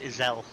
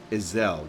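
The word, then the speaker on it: Ysayle: kurthus Western Highlands uh it's pronounced Iselle Iselle gotcha let us speak with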